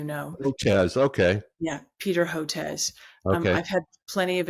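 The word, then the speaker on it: Hotez: just so you know Jazz okay yeah Peter Hotes um I've had plenty of experience with him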